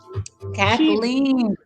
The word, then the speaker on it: Kathleen: Oh, I'm sorry, Kathleen. She said I called her Catherine. Kathleen rhymes with queen.